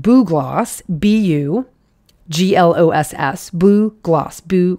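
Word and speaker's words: bugloss: be tempted to pronounce bug gloss it's b-u-g-l-o-s-s oh so you might want to say bug and you might see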